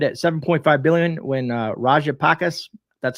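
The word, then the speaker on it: Rajapaksa: reserve had stood at 7.5 billion when uh rajapakis that's how you say his name returned to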